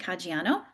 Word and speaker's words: Caggiano: And so tonight we have historian Caggiano. And that's how you pronounce it, right? it is very good. Not Okay, many people get that on the first shot.